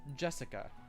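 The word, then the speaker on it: 朱志香: Anyway, it is pronounced Jessica.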